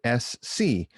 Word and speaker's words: Ess See: My guest, Sarah Carbonetti, the singer, songwriter, and creative energy behind Ess See, which is ESSSEE, like the letters spelled out phonetically.